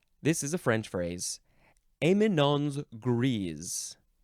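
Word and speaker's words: éminence grise: one next is this is a French phrase amon's gre amon's gre yes okay two words the first word is just spelled like Eminence but there is an a Accent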